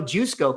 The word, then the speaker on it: Jusko: You're saying it wrong. Jusko. I want you to know that this might be the way to pronounce his name, Jusko.